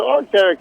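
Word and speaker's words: Arc'teryx: How do I pronounce that? Yeah, so Arcteryx, they're just a general supporter.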